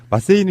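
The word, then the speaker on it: マッセ: 마세이는 이제 정확히 일본어로는 마세예요. 마세.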